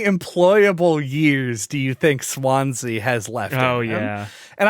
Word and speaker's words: Swansea: I looked up, how do you pronounce this? Apparently it's like a Welsh town. Swansea.